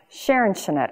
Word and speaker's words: Scherenschnitte: art of paper cutting called sharon chanette and i know that that is a very poor german pronunciation mary oliver jones was